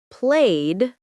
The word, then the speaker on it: played: For example, walked to T, played to D, wanted to id.